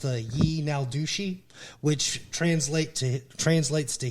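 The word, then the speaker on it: yee naaldlooshii: ton of sightings and the words for skinwalker in the Navajo language is actually pronounced ye now douchey which translate to translates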